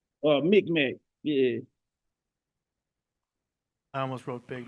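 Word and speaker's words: Mi'kmaq: Mid-Mac? Micmac, yeah.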